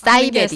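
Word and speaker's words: 아사이베리: 아싸이베리. 네. 또 사실은 발음이 사이베리라고 하죠. 아, 아싸이베리라고가 그죠? 사이베리. 사이베리군요.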